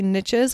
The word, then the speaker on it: niche: i hear that expression i wish that i didn't have to say niches because i actually prefer to say niche but riches doesn't rhyme with niche so the riches are in the niches so experts are the